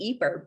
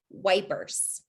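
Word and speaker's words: Ypres: of peace of course the british didn't know how to pronounce it when they first got to the eeper salient so they just pronounced it wipers you might be uh you might know of the broadway performance the wipers times that was performing in london wipers is anytime you hear that they mean eeper we all like to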